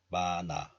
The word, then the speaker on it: 많아: But the sound of here of this letter is dropped or weakened. The remaining 니은 moves to the next letter because of liaison or linking. So it is pronounced as 많아.